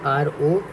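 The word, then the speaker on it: ρ: ठीक है ना, और हम इसको प्रोनाउंस करते हैं रो। ठीक है, RO, रो।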